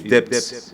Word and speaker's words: debts: Is debts? D-E-B-T, debts, yes. For those English people, they are here. That's why I did the correct pronunciation, debts.